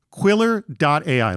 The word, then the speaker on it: Quilr: just monitoring it, check out Quiller AI at Quiller.ai. Let me spell that out for you.